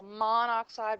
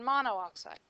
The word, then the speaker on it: monoxide: There's some rule that says if your prefix has two syllables and you're putting it on something that starts with a vowel, then you drop the second syllable of the prefix. So monoxide rather than monooxide.